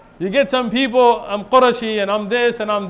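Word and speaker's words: قرشي: You're not called Qurayshi, it's Qurashi. In Arabic, it's Qurashi. It's not Qurayshi.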